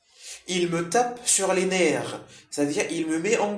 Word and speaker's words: nerfs: Les nerfs, hein, le F ne se prononce pas.